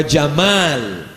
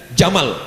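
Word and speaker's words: جمال: ditengok wa Jamal Cantik Tapi bacanya pakai Alif wa Jamal Jamal cantik tapi kalau tak pakai Alif Jamal onta jamaliha cantiknya yang keempat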